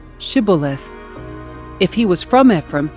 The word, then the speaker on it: shibboleth: If the man said, "No, I am not," they would tell him to say, "Shibboleth." If he was from Ephraim, he would say, "Sibboleth," because people from Ephraim cannot pronounce the word correctly.